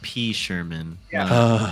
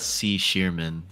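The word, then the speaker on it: P. Sherman: yeah from Finding Nemo but it's P Sherman not C sheerman but uh it Rhymes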